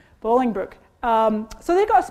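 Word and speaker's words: Bolingbrook: video happening there uh help me pronounce this right is it balling Brooking Bowling Brook thank you Bowling Brook um so they got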